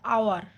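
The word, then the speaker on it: hour: যেমন অ্যান আওয়ার, এর উচ্চারণটা হবে আওয়ার, সেক্ষেত্রে আমরা কি বলি?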